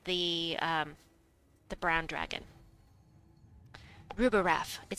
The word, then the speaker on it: Rubirath: um the brown dragon rubber wrath it sounds like rubber wrath it sounds like Scooby-Doo should be saying it rubber wrath it's Rupa rap it's fun to say